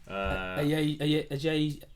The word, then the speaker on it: Ajayi: Ajay, how do you say it? Semi Ajayi.